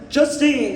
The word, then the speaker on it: Justine: is store just Justin Justine. It's spelled differently like J U S T E and I'm Justin the team.